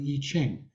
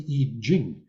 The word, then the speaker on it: I Ching: everybody knows about the I Ching, which is actually pronounced the I Jing.